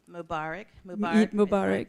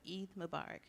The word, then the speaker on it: Eid Mubarak: a proper way to say is it happy barukh Mubarak celebrations of Eid Mubarak okay Mubarak and thank you everyone for attending